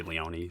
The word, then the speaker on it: Leone: I say Sergio Leone as well, but whenever I hear like a really famous director say it, they'll say Leone.